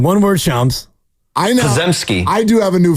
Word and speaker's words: Podziemski: Jaminski.